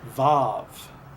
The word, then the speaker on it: vav: with regard to the quote unquote W or rather uh what I believe to be more more correctly pronounced VAV okay so moving on